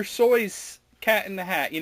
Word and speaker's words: Seuss: It's not Seuss. Is it Seuss? It's soy sauce. I can't say Dr. Soy's Cat in the Hat.